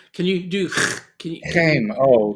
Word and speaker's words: Chaim: Shame. Oh, that's the Jewish pronunciation. That's right. Shame.